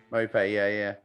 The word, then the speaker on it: Maupay: Neil Maupay, is it? How do you say his name? Maupay, is it? Maupay. Maupay, yeah.